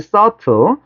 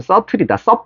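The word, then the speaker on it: subtle: 서틀. 발음 서틀이다. 틀 그러지만 오케이. 서틀인데이 미묘한 이런 뜻이잖아.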